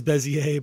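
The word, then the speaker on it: Bézier: beaser or bezier uh people pronounce it two different ways I I think the correct term is bezier but I've been calling it beaser all through high school and everything so uh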